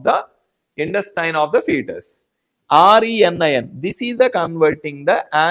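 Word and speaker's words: renin: This only thing is that R E N I N. This pronunciation is a rein only.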